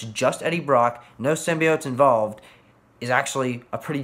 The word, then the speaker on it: symbiote: it's something for me in the trailers they pronounced it sim by out and as someone who's always pronounced to symbiote that always worked me